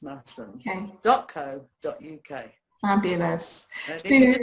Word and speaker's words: Masham: but it's pronounced Masham.